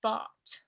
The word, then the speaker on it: bought: Comprar se conjuga a bought. Bought. Tiene muchísimas letras esta palabra. La G, la H no se pronuncian. Es bought.